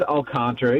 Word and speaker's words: Alcantara: It is Alcantara. You had it right the first time.